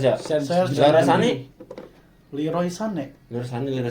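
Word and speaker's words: Sané: Kayaknya kan dia koma atas itu baca Sane. Biasanya kalau orang Jerman kalau dia belakangnya enggak ada E, di huruf di huruf kalimat belakangnya itu enggak ada E kayak gitu jadi E bacanya.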